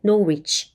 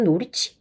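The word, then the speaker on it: Norwich: 거는 이제 상식으로 알아두시고요 발음에서이 노위 이거를이 영국 기자니 영국식으로 그냥 이더 발음을 조금 잘 발음을 안 하는 그런 습관 때문에 no reach 이렇게 발음을 하는데 심지어도 발음 잘 안 하잖아요 영국은 그러니까 약간 요런 식으로 노리치 가깝게 그렇게 발음을 한다면 어 미국에서는 이거를 최대한 다 발음해 주니까요 nor 렇게 발음을 하게 되겠죠 그래서 약간 그 지역적으로 어떤 분이 발음을 하느냐에 따라서 렇게 다 달라질 수 있다라는 거 참고하세요 네 반란 강한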